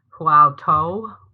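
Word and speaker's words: Huatou: heard of because it's it's pronounced um hu to but when you look at it it could be how to nice yeah I'm not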